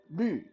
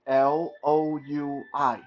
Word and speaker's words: 绿: Uh, that's a really weird thing to pronounce for English speakers. 绿 is like Loui, 绿. Uh, Imagine you're saying the word she, she, but you want to replace the sh with l.